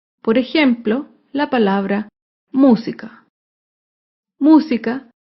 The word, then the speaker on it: música: ejemplo la palabra música música se acentúa en la antepenúltima sílaba música todas las palabras estrujulas